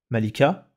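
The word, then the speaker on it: ملكة: Donc Malik, un roi, Malika, une reine. Et le A, on l'entend sur cette lettre-là, la lettre qui précède. On entend que avec A. Malik, Malik, Malika, Malika. On entend le A ici.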